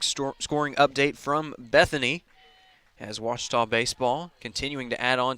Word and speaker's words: Ouachita: house now accepting reservations I've heard people say oh a cheetah oh Wichita oh a cheetah is it pronounced oh Akita searching for Washita Baptist University back in Texas everybody pronounces it Wichita but really it's Ouachita Washington how would you pronounce it Ouachita Washita